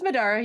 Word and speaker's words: Middara: We're playing as some uh so some Midora or Madara actually M and I can't pronounce it. In any case, welcome in. It's Madara. You got it right.